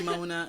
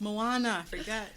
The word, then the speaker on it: Moana: I say Mona. I'm like, yes, it's Moana.